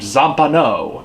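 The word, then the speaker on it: Zampanò: One day, Lude tells Johnny about this guy named Zampano, accent on the O, who lives in a first-floor apartment, and Zampano is sort of an oddball.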